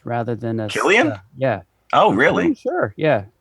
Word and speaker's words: Cillian: And I think you pronounce his name with a hard K sound rather than a Killian?